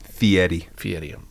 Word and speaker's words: Fieri: A joke about you have to pay a fee, Eddie. Was the punchline? Nice. So it's fee, well, Eddie.